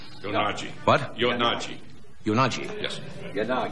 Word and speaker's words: Kuroyanagi: She is with us tonight, and I hope I pronounce her name right. Her name is Tetsuko Kuro Yonagi. Yonagi.